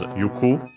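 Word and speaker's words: 行く: You could find it also as yuki because iiku can also be pronounced as yuku.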